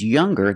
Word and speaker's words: younger: or with est EST we're going to pronounce the G sound the hard G so it's younger G with a G sound stronger the youngest again